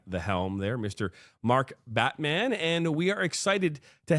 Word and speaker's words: Batman: And I know I said Batman, but it's actually pronounced Batman.